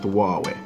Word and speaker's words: Huawei: look at the Huawei y360 yes this is pronounced huwei yeah now this is a phone that is